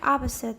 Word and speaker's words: opposite: Seconds on the horizontal scale, and one of the 2 has completely vanished in the second opposite, so that it is now pronounced opposite. There are another indications. Opposite. There's no vowel there at all.